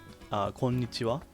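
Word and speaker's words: こんにちは: So this is hiragana ha, but it's also used as wa, pronounced as wa in some situations, such as particles, and I guess in words like konnichiwa, konbanwa.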